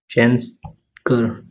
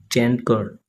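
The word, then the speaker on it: chancre: ये स्पेलिंग आप समझ लेना। सी एच ए एन सी आर ई चैन कर चैन कर चैन कर नाम है इसका ठीक है तो ये है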